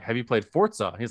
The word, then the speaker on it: Forza: And he's like, there's no T in there.